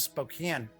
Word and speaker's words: Spokane: mark in Spokane Washington I know some people pronounces Spokane but when I've been through Spokane everybody calls it Spokane so I don't know I'm going with spoke in anyway mark asks why